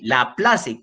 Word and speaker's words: Laplace: Se escribe, ese apellido de este investigador francés, se escribe Laplace, con C, Laplace, como suena fonéticamente en español.